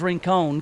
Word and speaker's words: Rincon: Liz Rincon, which I call her Liz Rincon because that's how her name's supposed to be pronounced.